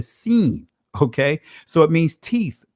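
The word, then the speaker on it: שׂ: To the left, you pronounce it as the seen.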